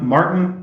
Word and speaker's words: Maarten: So hi guys, I'm Maarten. That's how you pronounce the name.